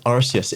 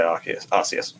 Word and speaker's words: Arceus: But that's how it's pronounced in Japanese, and then it's just transliterated into English.